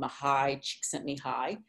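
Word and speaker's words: Mihaly Csikszentmihalyi: and identified it as a hungarian psychologist called mahai she sent me high i always do like to brag you know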